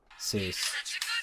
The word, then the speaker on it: Seuss: sus art of Dr Seuss which originally is supposed to be pronounced soy but I'm not going